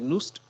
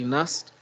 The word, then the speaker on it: NUST: All right, here we have two pronunciations for NAST. Some people say NUST, others say NAST.